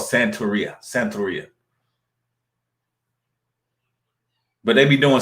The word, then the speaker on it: Santeria: Santeria is how it's pronounced.